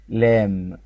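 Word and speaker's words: lamb: مربى طيب عندي هنا كلمه لام لام البي سايلنت الاخيره ماتقشي فالكلمه دي اسمها لام لام يعني حمل او خروف صغير يعني ل ماتنطقش البي لام لام لام لام لام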